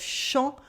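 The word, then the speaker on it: champs: a private a privacy with the silent p and the silent s at the end of shawn for the wheat fields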